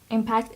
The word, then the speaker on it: impact: it apart from competitors the next word is impact impact is a verb and the stress is on the first syllable impact it means the